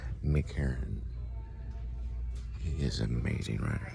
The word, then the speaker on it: Herron: Still looking for Heron though. I thought he sold out, but he didn't. Mick Herron is his name. I always get his name wrong. Mick Herron.